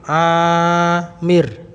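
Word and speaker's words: عامر: Kalau Amir ain terus alif. Amir.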